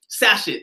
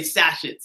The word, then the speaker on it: sachet: to go sachets right sash sachets sashet I think you say sashet it's spelled sashet right I know I kind